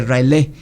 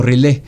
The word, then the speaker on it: R'lyeh: Este es el caso de la ciudad hundida de R'lyeh, o R'lyeh. También eso es algo importante que cabe aclarar, las pronunciaciones de estas palabras de Lovecraft.